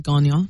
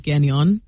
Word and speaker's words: Gagnon: So I would say that the correct way to pronounce it French is Gagnon. Gagnon. The way that a Mainer might pronounce it, but still homage to the French, is Gagnon.